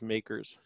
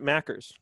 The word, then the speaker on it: MACRS: right um josh says makers macrs m-a-c-r-s right oh you pronounce it makers i pronounce it mackers potato potato everybody in the tax world says makers i don't well i